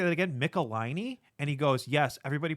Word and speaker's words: Michelinie: Michelinie? And he goes, yes, everybody pronounces his name incorrectly, and he hates it.